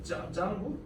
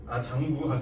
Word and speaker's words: 장구: Oh, that's a 짱구? 장구. 짱구라고 읽으면 죄송해요.